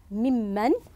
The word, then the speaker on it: ممن: تحذف النون هنا، تقلب أو تحذف النون الثانية وتكتب بهذا الشكل الصحيح وتنطق ممن.